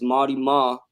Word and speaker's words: Mawty Maw: It's a W for a reason. So I could put that out there. It's Mawty Maw for anybody out there who has a hard time pronouncing it.